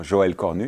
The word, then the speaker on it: Joël Cornu: My name is Joël Cornu, or Joël Cornu, if you pronounce it the French way.